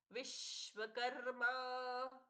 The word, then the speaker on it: विश्वकर्मा: मर प्रभु विश्वकर्मा मनुस्तष्टा विश्वकर्मा कर्मा क पर र का सुंदराघात मा दीर्घ मनष्टा मनुस और स्वष्ठा